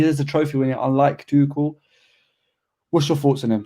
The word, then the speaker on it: Tuchel: I say Tuchel.